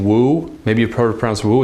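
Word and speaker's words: wu: like the last name woo maybe a program so it's actually pronounced ooh because it's just a U but the W has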